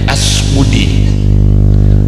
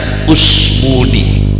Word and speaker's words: Usmuni: kitab Nahwu namanya usmuni orang Jawa bacanya asmudi yang benar usmudi jadi bacanya bukan tidak